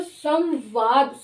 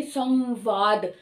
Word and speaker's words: संवाद: संवाद में व है, व ऊंट से बोला जा रहा है, ऊंट इसका उच्चारण स्थान है, तो संवाद, सम जो अनुस्वार है उसकी साउंड भी ऊंट से टच होकर ही आएगी, संवाद।